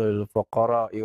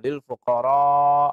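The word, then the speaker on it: للفقراء: Innamas shadaqatu lil fuqara, fayumad, dia panjangkan ya, supaya tahu bahwa cara bacanya al-fuqara itu dibaca panjang.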